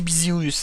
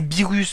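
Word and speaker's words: Beerus: Alors moi je dis Bizirus hein, je sais pas si Bezerus. Attendez, c'est comment que ça s'écrit with voilà. Ah non, c'est Birus, pardon, c'est pas Bizirus.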